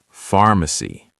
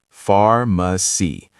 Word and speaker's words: pharmacy: Pharmacy. Pharmacy. The PH sounds like an F, pharmacy.